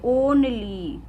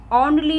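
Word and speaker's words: only: ओनली, ओ, इसमें हम ओ को प्रोनाउंस करते, ओनली। ऑनली नहीं आएगा, ये ऑनली।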